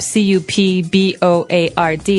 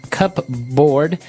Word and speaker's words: cupboard: might want to say cupboard because it's cup c u p b o a r d. That's not right. The word is pronounced cupboard. Okay. So, even though it may seem like you should pronounce cupboard, the correct pronunciation is cupboard.